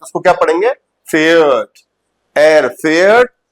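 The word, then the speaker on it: fährt: ऐसे ही एयर जीएस के साथ भी वो पढ़ेंगे फार्ट, नो इट is wrong. Air जीएस के साथ क्या पढ़ा जाएगा, फेयर्ट, डू फेयर्स्ट, एयर फेयर्ट।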